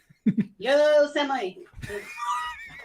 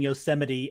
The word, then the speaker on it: Yosemite: Yo, Semi. Come on. I'm assuming you saw that. I was looking away, unfortunately. No, I mean, someone mispronouncing Yosemite as Yosemite.